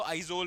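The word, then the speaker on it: Aizawl: मतलब कैपिटल of Mizoram है इजवाल, मतलब बट आई एम टॉकिंग कि एग्जैक्टली इंग्लिश में क्या स्पेल करेंगे उसको, तो उसको आइजोल बोलते हैं।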